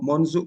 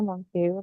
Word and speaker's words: Monsieur: Itu tadi bacanya Monsu, Monsu ya, Bu? Monsu. Em, biasanya Monsieur ya.